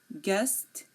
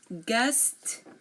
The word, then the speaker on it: guest: sometimes silent as well U is often silent after G and before a vowel um for example colleague guard guest guide guitar here notice you are not hearing the U in any of my pronunciation again colleague guard guest guide and guitar now W if a